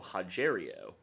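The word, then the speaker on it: Rogério: uh little nog Antonio haero the r is pronounced as an H for those who don't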